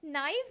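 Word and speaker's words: naïve: आई के ऊपर यहां दो डॉट्स मिलेंगे बेटा। और इसलिए मैं इस आई पे जोर दे रही हूं। नाइव है ना? अदरवाइज इसे नेव कह सकते थे बट दिस इज नाइव।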